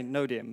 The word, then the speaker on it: Knodium: Did I pronounce that all right? We say Knodium, but we're happy with Knodium if that's what you want to say.